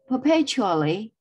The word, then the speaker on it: perpetually: let's check it but perpetually perpetually perpetually and the the stress is on the second syllable perpetually perpetually perpetually in